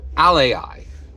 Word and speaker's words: AlAI: capital a capital I Ali okay now wait that sounds a lot like Ally it does um but it's not exactly the same so what is